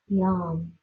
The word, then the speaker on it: Yam: You could also add the mantra of the heart, Yam, rhymes with mom.